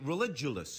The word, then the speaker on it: Religulous: I'm here with Bill Maher, who's your documentary Religulous. Is that how it's pronounced? Correct. Religulous. You pronounced it correctly.